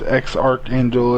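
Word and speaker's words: X Æ A-12: it's X Archangel is how it is pronounced.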